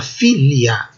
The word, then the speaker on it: filia: Em latim, vogal seguida de vogal é breve. Então, este I seguido do A é breve. Vejam o sinal em forma de meia-lua. Isso quer dizer que a sílaba longa é a anterior.